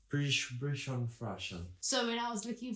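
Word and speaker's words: Bichon Frise: dog is very itchy Bish freeze how do you say it aish f oh there bishon bishon bishon freeze bishon fres so when I was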